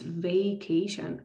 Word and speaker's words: vacation: Okay, it's vacation, not vac or vac. Okay, I'm not trying to make it vacation. Okay, so the letter A is pronounced as a diphthong.